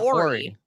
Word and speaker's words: Horry: Now, Jenny, allegedly, Robert Horry is here. Is it this person was not on the show? Do you pronounce the H? Horry? Or is it Ori? Ori. A silent H? Yeah.